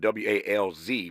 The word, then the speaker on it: Walz: His last name is spelled W-A-L-Z, pronounced Walz, but W-A-L-Z is how you spell it.